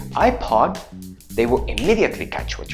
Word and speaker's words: iPod: Now you can say words like: HOTDOG... ...HOTMAIL... ... and iPod Right? If you try to say “ipod” to an American or an British person... ...they will be very confused and they will have no idea what you are saying {\i1}“ipod”...